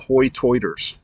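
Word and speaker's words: hoi toider: lived there for Generations they are called hoy toiters and that's because that's how they pronounce high tide oytoid ah it's crazy and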